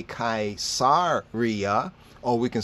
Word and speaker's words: Caesar: Kazar Kaiser Kaiser Kai that's why it's c-a-e not just khazar but Kai the A and the E has an ie ie sound kaisar but sometimes we do